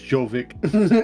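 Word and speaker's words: Jović: Yep, his name is Jovic. Okay. I get those two mixed up. Jovic, okay. Jovic. Yeah, I'm over here pronouncing it the English. It's Jovic. Yeah, it's Jovic.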